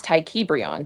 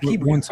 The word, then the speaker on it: JayBReacts: And it's JayBReacts. That is my birth name on my ID. But you never came up here and pronounced it like that. JayBReacts. I got it now. I did actually. JayBReacts. Well, I apologize. JayBReacts. I can't forget it now. Thank you. It rhymes with free.